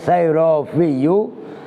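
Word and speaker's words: السيرافي: Itu bacanya sayrofiyu. Fa itu dicampur dengan ba.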